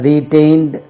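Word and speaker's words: retain: the particular party has ரீடைன்ட் the seat எலக்சன்ல அதே seat தக்க வைத்துக் கொள்கிறார்கள் ரீடைன் stress lies on the second level ரீடைன் டிஏ ஐ என்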